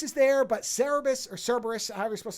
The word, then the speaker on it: Cerberus: red hair all right the pronunciation is cerebus okay so three dog